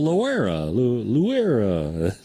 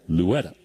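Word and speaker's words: Loera: because it's spelled l-o-e-r-a so people were like oh lawera but I I don't think that's right two balls one strike now to Louetta he fouls the next one off and so Tommy Thompson called him over and introduced me to him and how do you say your last name and he goes Louetta and I said Louetta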